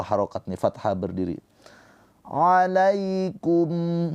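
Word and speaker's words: عَلَيْكُمْ: Alaikum, ya sukun sebelumnya harokatnya fathah, ini adalah harfulin, dibacanya dengan lembut ke huruf ya.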